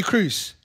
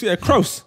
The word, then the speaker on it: Kroos: Hey, by the way, you know all this time I've been pronouncing it Tony Cruz. It's Kroos.